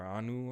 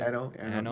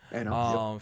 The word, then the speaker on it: Anno: Anno 1800 or Anu or whatever, however you pronounce it. Anno. You got it. Anno.